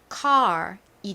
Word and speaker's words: car: 발음이 어떻게 되나요 바로 car이 됩니다 차라는 의미이죠 저희가 운전하는 차 자 한번 발음 따라해 볼게요 혀를 목구멍 쪽으로 깊숙이 구부리면서 소리를 내주셔야 돼요 칼이 아니라 칼 칼 이렇게요 카알과 같이 발음이납니다 따라해 보실게요 한 번